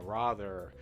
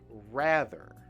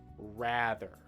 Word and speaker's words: rather: some of you might think oh it's raw rather but in fact the the way in american english to say this word is ra rather rather try it again okay now let's go up